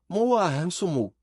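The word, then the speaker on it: Morgenmad: Ele faz um som estranho, gutural, Moahansumu.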